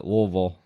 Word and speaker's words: Louisville: Keith is from Louisville louville Lille all right I said it right louville you got to kind of you kind of got say it like you're drunk Yeah so basically I